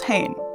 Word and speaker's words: Hain: two characters the one on the left is Hayne and the one on the right is lon